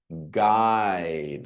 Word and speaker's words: guide: Next, guide, hard G.